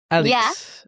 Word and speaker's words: Alix: Is that how you pronounce it? Yeah, you said Alix? it right. Alix.